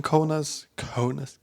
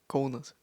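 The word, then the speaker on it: Kaunas: So if you're in Kas, how do you say I know Kas? You always complain when I say I don't complain. But you're supposed to say conus.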